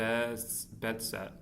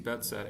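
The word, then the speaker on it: Behçet: The first modern okay the best disease is named after hooi betset a Turkish dermatologist. So it is Turkish. I just I'm pronouncing it wrong. I think it's probably betset instead of bes betchett. So bedset disease and HIV infection for athis ulcers can cause it.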